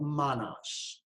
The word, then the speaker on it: manas: The first is called manas, m a n a s.